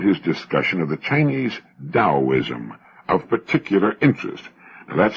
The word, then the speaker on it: Taoism: beneficial I found his discussion of the Chinese taoism of particular interest and that's spelled t-a-o-i-s-m and often mispronounced Teo Daoism The Tao signifies the energy of the universe